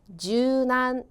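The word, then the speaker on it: 柔軟: 자 그다음 유연 은요 발음이 주난 주난 되겠네요 자 유연할 때 유자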